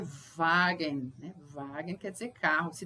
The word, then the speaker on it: Wagen: aprender lembrando sempre que o w em alemão é pronunciado ver como se fosse um v né Um Bom exemplo é Wagner Wagner quer dizer carro